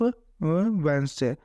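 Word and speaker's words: Wednesday: जैसे कि के इसमें साइलेंट वर्ड हो जाएगा, फिर वेंसडे में डी साइलेंट वर्ड हो जाएगा।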